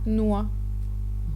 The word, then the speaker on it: noix: Et parfois aussi, il ne fait aucun son. Donc un exemple avec le mot noix. On n'entend aucun son à la fin produit par le X.